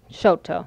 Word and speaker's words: Chouteau: to you pan that you notice that I said shoot oh now people in Oklahoma say Shoto that's just the way we always pronounced it and when